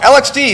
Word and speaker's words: LXD: So, LXD is actually supposed to be pronounced LXD.